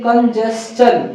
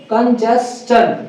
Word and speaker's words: congestion: है थोड़ा सा कि अगर TION से पहले अगर S आ जाए, TION से पहले अगर क्या आ जाएगा, S आ जाएगा, तो इसके वजह से इसका प्रोनाउंसिएशन जो है वो शन ना होकर के चन हो जाएगा, क्या हो जाएगा, चन, ठीक है। तो इसको बोलेंगे कंजेस्टन, क्या बोलेंगे, कंजेस्टन, ठीक है।